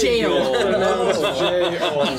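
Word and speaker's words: gaol: Well, phonetically underneath is like it says jail.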